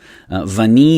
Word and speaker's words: Vanille: word is an adjective vani is obviously vanilla and you don't pronounce the l at the end and then so it's